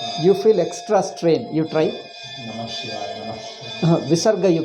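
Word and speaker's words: नमः शिवाय: Now, when you say Namaha Shivaya, how do you pronounce? Namah Shivaya. It is a Veda mantra. Therefore, Sandhi is necessary. In Veda mantra, Sandhis must be done.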